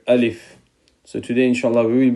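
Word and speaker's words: ألف: please repeat it after me this is letter alif alif so say alif alif and the pronunciation of alif is uh this letter name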